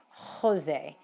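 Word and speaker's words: José: Jose in Spain is pronounced with a very, very almost in the back of your throat sound.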